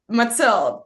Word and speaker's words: Mathilde: say my name properly because my name is Matel and there's the name matela which Mela is